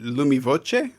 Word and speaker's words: Lumi Voce: to say it so is it lumi voce absolutely correct yes it's italian lumi to illuminate a